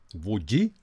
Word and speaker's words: Wuji: And pleasant surprise, I even looked at internet to find out how to properly pronounce it. It's Wuji. It's Wuji amplifier.